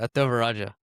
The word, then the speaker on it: Thevarajah: Ataraja Ataraja.